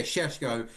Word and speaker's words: Šeško: But yeah, it's spelled S-E-S, but I write it with an H after the S. Yeah, Sheshko is what it's going to be.